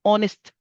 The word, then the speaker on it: honest: vous allez dire un honest man. Honest. Le mot commence par la lettre H, mais vu que la lettre H est une lettre muette, donc vous n'allez pas la prononcer, vous prononcez la euh